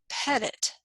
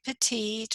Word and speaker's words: petit: juries and this is Pettit juries we don't say petite or petty we say Pettit almost like you're petting an animal Pet it pet the